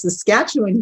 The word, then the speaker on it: Saskatchewan: a lot of people have a hard time pronouncing our province but it's saskatchewan canada yeah i love it by the way